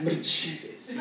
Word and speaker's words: Mercedes: um Mercedes no but I definitely pronounce of the European way like Mercedes and Mercedes would say